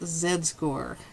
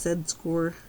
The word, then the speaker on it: z-score: 12.7 what is his z score and by the way i do pronounce zed score the canadian way not z-score like an american so we start with